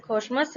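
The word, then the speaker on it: Kussmaul: Okay, this is pronounce as खोशमस respiration.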